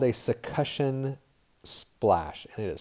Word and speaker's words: succussion: demonstration right so this is something called a succussion splash and it is spelled wrong on the slide sorry it's succussion